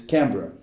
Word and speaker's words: Canberra: Capital da Austrália é Canberra, em inglês Canberra.